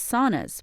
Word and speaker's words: sauna: He believes saunas, pronounced sauna in Finnish, are having a moment and he expects it to last.